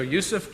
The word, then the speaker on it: Yusuf: transition of of uh really learning to pronounce my j like a y and then you switch to here toward the end which is uh which is fine so yusuf uh i told